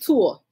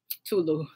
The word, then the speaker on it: tulle: It's Tour. Tulu.